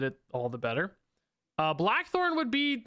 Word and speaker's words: Blackthorn: Blackthorn one. Black Horn. I keep saying his name wrong.